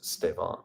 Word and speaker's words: Stefan: that one uh Stefan it's pronounced as Stevan more V okay uh but with a hard F in English I'm Dutch and thanks for all your depth answers that's cool thank you Stevan Stefan right so not a